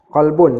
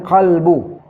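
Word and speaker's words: قلب: terjemahan dia adalah do sebab tu dia bukan huruf k dia Mesti kena huruf q sebutan dia qbu ataupun qbunbu kerana perbezaan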